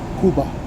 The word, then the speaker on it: Cuba: power sub arrives in Cuba Kuba so pronounce as Kuba um is right here